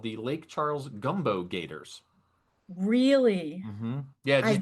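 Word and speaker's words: Gumbeaux: A gumbo gator, and gumbo is spelled Gumb B E A U X.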